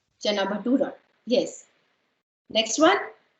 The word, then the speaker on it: chana bhatura: A letter or U letter, and it is pronounced as dum. Dum biryani. Okay. Next one is okay, yeah. Is it chana batura? Chana bhatura. That's correct. Chana bhatura.